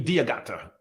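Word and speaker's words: D'Agata: I like it yeah well English you see the D then apostrophe diagata yeah so you know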